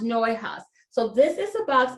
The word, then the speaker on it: Neuhaus: It's pronounced Neuhaus.